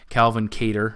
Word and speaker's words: Calvin Kattar: Andre Fili comes in, heavy favorite against a short notice Calvin Kattar. I believe that's how they pronounce his name.